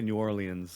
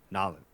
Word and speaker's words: New Orleans: don't say new orleans they don't say new orleans like you're supposed to they say nalin yeah nah yeah and like it's one word two syllables and it's not supposed